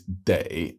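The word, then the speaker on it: 得: is sell she's selling clothes next up is day as in must now this particular character super common with another pronunciation of D with a fifth tone and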